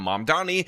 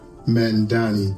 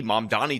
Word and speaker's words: Mamdani: is the fact that Mayor Eric Adams cannot pronounce Mom Donniey's name. And that is absolutely hilarious. the mayor elect Lauron Mandani.